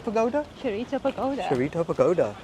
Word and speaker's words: Chureito: And the name of the place that we're going to is a pagoda, and I'm going to try and pronounce it, is Shiraito Pagoda? Chureito Pagoda.